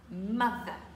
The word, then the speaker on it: mother: famille c'est important family la mère avec un son th doux encore une fois MAV ma mère est française